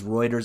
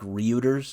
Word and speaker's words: Reuters: I think it's pronounced Reuters. Yeah, okay, I just looked it up. Thank you, Google. Yeah, it is Reuters. I always want to say like Reuters.